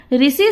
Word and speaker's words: ऋषि: हैं, रू कहते हैं, लेकिन हिंदी में इसका उच्चारण क्या होता है, ऋषि। जैसे उड़िया में क्या होता है, ऋषि, और यहाँ पे हिंदी में ऋषि।